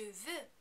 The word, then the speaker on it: veux: Please remember, you're not going to pronounce any of these final consonants because they are not followed by a vowel sound. Je veux, tu veux, il veut, elle veut, on veut.